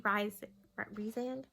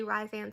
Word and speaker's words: Rhysand: And I know from people in the fandom and things like that, that has to be Rhysand. I'm going to say Rhysand so much that's not how you say it.